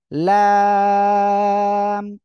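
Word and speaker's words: ل: জন্য ওকে খেয়াল করেন এই যে লাম জিহ্বার আগার কিনারা উপরে মাড়ির দাঁতের সঙ্গে যেকোনো একপাশে লাগিয়ে আপনারা উচ্চারণ করবেন লাম একসাথে বলেন লাম মাশাআল্লাহ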